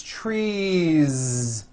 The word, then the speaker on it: trees: tree or two trees it's not tree with an unvoiced s its trees with that voiced ending you see that another